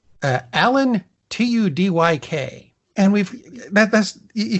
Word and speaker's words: Alan Tudyk: ways of pronouncing it I heard a definitive version it's Alan Tudyk I am passing that